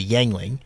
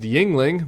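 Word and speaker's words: Yuengling: thought you guys needed to be introduced to yangling yeah yangling beer yangling yangling well if if McCormack was actually from Pennsylvania uh he would he would have known that uh that this beer is pronounced Yingling many people had it I had it a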